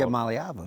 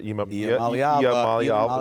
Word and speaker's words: Iamaleava: just going to call Iamaleava. Iamaleava. Okay, you got to kind of like. Gotta sing it. Iamaleava. Gotta sing it. I do it right? Iamaleava.